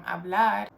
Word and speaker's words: hablar: If a word ends with a vowel, in this case it's O, the emphasis falls on the penultimate syllable. That's why the emphasis switches from hablar to hablo, from comer to como, from vivir to vivo.